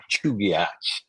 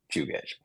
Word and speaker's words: Chugach: So I was told by my sister that the actual way that the native Alaskans pronounce this is Chugach. But it's a little pretentious, so we'll just stick with Chugach.